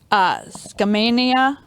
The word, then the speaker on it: Skamania: In 1969, help me if I say this wrong, Skamania County in Washington.